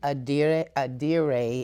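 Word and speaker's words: adire: A diade is like the English pronunciation, and a diade is the Yoruba pronunciation.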